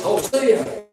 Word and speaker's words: Hosea: Rex Turner, I was in one of his prophets classes, and somebody said, oh, Brother Turner, he said, son, it's Hosea. And whether Turner was right or not, that's the way I pronounced it.